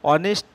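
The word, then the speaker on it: honest: ইসঅান অনেস্ট ম্যান এ এন্দি বসাতে হবে তাই অনেস্ট লিখতে গেলে এই থাকা সত্ত্বে উচ্চারণ ভায়লের মত তারপরে দি এলিফ্যান্ট তারপরশি ইস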